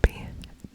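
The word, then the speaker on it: bitte: in butter fle butter fle butter butter butter but butter fake butter fake butter fake butterf so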